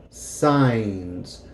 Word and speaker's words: signs: don't read the signs now this word signs is going to sound like this phonetically in Spanish and Haitian Creole so sigh mmm signs the G is going to be silent so this is what